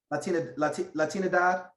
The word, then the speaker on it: Latinidad: Latinidad.